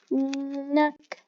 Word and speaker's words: knock: Knock. The K is silent.